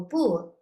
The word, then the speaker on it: 不: So the normal pinyin for bu, pronunciation for bu is 4th tone.